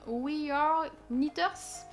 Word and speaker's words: We Are Knitters: Donc c'est la laine We Are Knitters. Parce qu'on m'avait dit dans les commentaires qu'il ne fallait pas prononcer le K. Donc si ma prononciation est bonne, We Are Knitters.